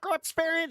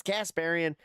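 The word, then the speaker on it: Kasparian: Croparian is not Croxparian. She's Casparian.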